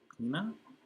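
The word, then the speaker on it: pinnae: Pina rhymes with Mina.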